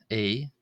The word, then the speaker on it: ⲉⲓ: A. This is like the first A in the English word about A.